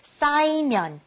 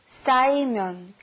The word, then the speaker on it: 쌓이면: The first one was 쌓이면, to pile up. Be careful with the 싸. 쌓이면. The second one, to relieve or get rid of, 풀어요.